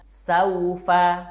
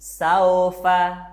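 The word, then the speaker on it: سوف: Baina, saufa. Yang harus kamu ingat, suara ayunannya itu u dan i, bukan o atau e. Baina, saufa.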